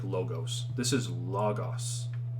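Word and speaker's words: λόγος: people pronounce this like logos in english we would pronounce it like logos this is logos right it's those short o's so you just want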